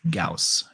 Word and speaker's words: Gauss: way that last name is gauss when you pronounce that last name it's gauss all right julia you should oh if you